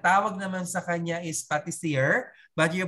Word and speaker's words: pâtissier: Ayan, ang tawag naman sa kanya is pâtissier, but you pronounce it pâtissier.